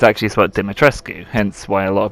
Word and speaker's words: Dimitrescu: neither spelled dimitra's not domitress it's actually about dimitrescu hence why a lot of people pronounce it that way but i'm completely waffling